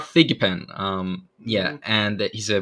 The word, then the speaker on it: Thigpen: with scott escott pikmin figment oh sorry i already mispronounced it i'm sorry it's all right you're good scott thigpen um yeah and he's